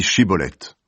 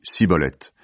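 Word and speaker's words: Shibboleth: ils lui disent « Eh bien, dis Shiboleth ». L'homme dit Siboleth, parce qu'il n'arrive pas à bien prononcer ce mot.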